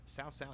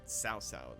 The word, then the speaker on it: Cao Cao: Now, some people are getting, they say it like, they write it out like I'm pronouncing it S-O-W, and it's probably what it does sound like. It has a T in it.